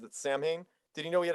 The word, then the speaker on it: Samhain: um it's actually pronounced sauwin it's but it's spelled samhain and he calls it samhain but it's pronounced sauwan because it's like a gaelic thing i'd let's just let's